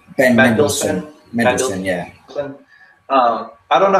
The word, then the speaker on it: Mendelsohn: Ben Mendelsohn.